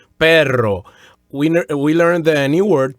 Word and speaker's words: perro: Okay, as I said before, perro, P-E-R-R-O, since it has two R's, the R's have to be rolled stronger and longer. So it has a stronger rolled R sound, perro.